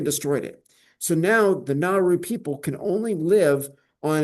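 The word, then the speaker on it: Nauru: It's spelled N A U R U. Naru.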